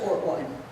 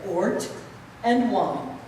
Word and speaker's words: Ortwine: Ortwine. Yes, you heard me right. I said Ort and wine. I know my name rhymes with short and swine.